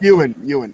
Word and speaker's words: Ewan: I probably butchered it. Ewan. No, you said it right. You said it right. No, it's Ewan.